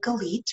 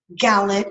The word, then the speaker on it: Galit: the teacher called out the name gleet which was never pronounced like that it was pronounced Collette Gillette Galit and anything in between the next step was